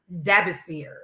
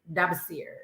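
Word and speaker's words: Dabasir: name and i and it's pronounced dabbasir dubsteer so dabbasir wrote out on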